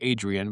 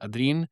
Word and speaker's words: Adrien: It looks like Adrian, but it's Adrien.